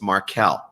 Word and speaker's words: Markel: corrected him i said it's not marco it's markelle markell i had a feeling